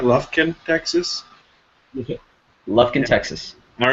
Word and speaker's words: Lufkin: Lufkin, Texas.